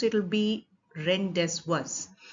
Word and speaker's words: rendezvous: For example, the word rendezvous, which is spelled Rendezvous. Normally, if you were to just read the letters and pronounce, it will be rendezvous. But we pronounce it rendezvous because it has been borrowed from French.